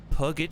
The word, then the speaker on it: Puget: Puget Sound.